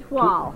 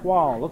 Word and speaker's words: toile: Yeah, it's like the word toilet without the T.